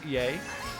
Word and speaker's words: Ye: on with ye uh it's pronounced yay I'm going out I